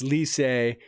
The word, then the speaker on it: Licey: But anyways, they got a big L, and it's Lycée.